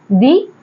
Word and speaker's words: the: plus हमारा ववलू है तो हम इस टी एच ई को द ना प्रोनाउंस करके दी प्रोनाउंस करेंगे अब इसकी जगह अगर मैंने लिख दिया द बैट B consonant sound ब और इसके पहले जो टी एई आया उसे हम दी ना बोल के द बोलेंगे तो ये जो सबसे